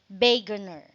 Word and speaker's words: Wegener: We have Alfred Wegener, or it pronounced as Alfred, according to the book, it pronounced as Wegener.